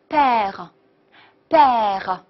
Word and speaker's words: père: b，所以连起来就是 père，非常好。